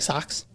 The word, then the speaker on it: Sox: that sounds like chance it's spelled like s-o-x like the social experiment like the White Sox like socks uh so is it